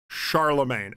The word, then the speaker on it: Charlemagne: Charlemagne. Okay, I got it now. Maine would be pronounced ma.